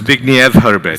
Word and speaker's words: Zbigniew Herbert: pronounced? Zbigniew Herbert, Zbigniew.